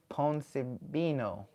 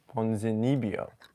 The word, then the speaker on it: Ponzinibbio: Jeff, Neil, and Santiago Poncebino. No. Poncenibo? No. There's two eyes there. Poncenibo. Poncenibo. How do you say it? Now he's stalling, guys. Now Luke is stalling. Hey, I do play the gi very much. Santiago Ponzinibbio. Okay.